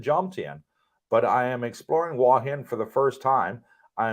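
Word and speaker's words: Hua Hin: wahin is is uh spelled huahin but it's pronounced by the ties wahin I lived across the street from you and jontian but I am exploring wahin for the first time I am looking forward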